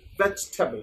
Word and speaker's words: vegetable: Amra onekei boli vegetable, onekei bole vegetable, but the pronunciation would be veg. First veg. G er pore je e ta ache, that would be implied. Now focus. Veg. Table na table.